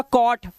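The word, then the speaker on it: caught: दिखाई देता है ना आपको जी एच टी का जी एच कभी नहीं पढ़ा जाता सिर्फ ट पढ़ा जाता है तो ये टा होता है बस तो ये हो गया कॉट ये हो गया कॉज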